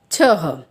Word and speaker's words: छह: बच्चों छ को अह की मात्रा लगाई गई है, इसीलिए उच्चारण होगा छह।